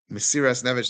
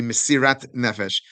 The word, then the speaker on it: mesiras nefesh: Mesiras nefesh that's uh that's the Ashkenazic pronunciation. The Israeli and Sephardic pronunciation would be mesirat nefesh.